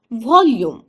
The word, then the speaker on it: volume: Actually VOLUME ये अंग्रेजी का एक शब्द है जिसका उच्चारण होता है वॉल्यूम।